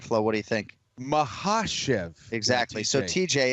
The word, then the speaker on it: Makhachev: syllabic emphasis right so it's all about emphasizing the right syllable it was a very good effort out of you but what we go with on broadcast is not what you said can flow all over it as usual islam mahashiv it is the second syllable that is emphasized and